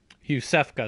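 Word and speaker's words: Iosefka: tell anyone who's human about youssef cos clinic youssef go that's how you pronounce it I keep saying Isis when they're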